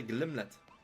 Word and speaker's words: Glimmet: gimlet shiny little gymnet is it called gimnet I think so right glimlet I have been mispronouncing the name the entire time no wonder it's not shiny we don't want the gimlet we want the glimnet nice can't you really